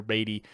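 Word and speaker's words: Badie: Estime, Tyler Beatty, and you will not get me to say Bidet. I'm saying Tyler Beatty. I guess I should say how he wants it pronounced, but Tyler Bidet, and then Blake Watson as the running backs.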